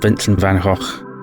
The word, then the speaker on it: Vincent van Gogh: In the published letters of Vincent van Gogh, and that's apparently how it's pronounced, my pronunciation still might not be the best, he discussed his painting practice and his thinking behind it.